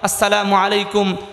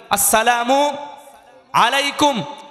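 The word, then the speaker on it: السلام عليكم: সুতরাং আজকের প্রোগ্রাম থেকে আমরা কমপক্ষে সবাই উচ্চারণ করছি আসসালামু, বলেন আসসালামু আলাইকুম, অনেকে বলে আসসালামু আলাইকুম, জি না, চলবে না, আসসালামু আলাইকুম, কথা বলেন আসসালামু আলাইকুম ওয়া রাহমাতুল্লাহি ওয়া বারাকাতু ওয়া বারাকাতু, আসসালামু আলাইকুম ওয়া রাহমাতুল্লাহি ওয়া বারাকাতু।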